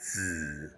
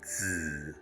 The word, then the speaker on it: 子: Hao is a fusion of 2 characters, nu, representing female, and zi, symbolizing son.